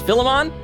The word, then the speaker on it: Philemon: way okay oh yeah cause I've been saying phylum on so it's Philemon okay kid says yay